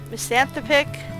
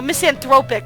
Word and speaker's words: misanthropic: like the picture painted Lonely Miss anthropic oh misanthropic I think is really the proper way to pronounce it a self-made victim angry